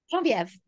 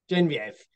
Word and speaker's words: Genevieve: How do you pronounce it? Is it Genevieve? Genevieve. Genevieve.